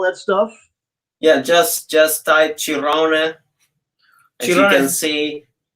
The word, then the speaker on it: Cirrone: But you guys say Cirrone, right? Cirrone. Well, I say, Cirrone myself. You're right. You Very good pronunciation.